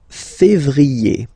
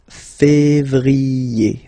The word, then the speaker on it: février: Then comes février, février. Okay, remember when you have this accent aigu on the top of then you pronounce it e.